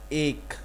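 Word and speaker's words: ایک: This one is ek. We pronounce 3 of this like ek.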